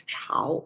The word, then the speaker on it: 朝: may know this um not only is pronounced as chao, it can also be pronounced as uh when it when it pronounced as ja, it mostly means uh morning time um at the dawn.